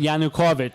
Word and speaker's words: Yanukovych: And then the president, how do you pronounce his name? Yanukovych. So usually they pronounce it wrong. So if Yanukovych.